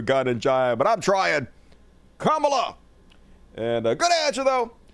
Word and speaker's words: Kamala: a house she will protect democracy and it's pronounced Kamala Kamala Cala and if you have any trouble with